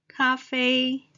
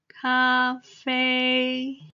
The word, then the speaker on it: 咖啡: first tone 公車 bus coffee 咖啡 a term formed from the English vocabulary same the first tone 咖啡 coffee then 超商 the